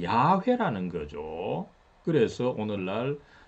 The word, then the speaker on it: 야훼: 하나님의 이름은 어 2억 우리가 알고 있기는 여호와 입니다 그러나 어이 영어 라고 하는 발음 급이 이 틀린 것은 아닌데 더 정확한 발음은 원래 발음은 야훼 라는 거죠 그래서 오늘날